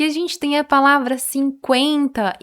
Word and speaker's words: cinquenta: Não é 50, é 50.